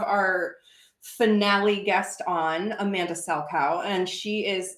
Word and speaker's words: Salchow: And today we're super excited to have our finale guest on, Amanda Salchow. And she is like... Salchow.